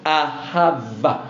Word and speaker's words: ahav: h a v pronounced aav with with with with with with V at the end aha because I I